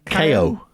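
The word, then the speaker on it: Caio: So they dragged in a guy from Indy Next called Cow Collette to replace him at Nissan, and he did a pretty decent job, I think.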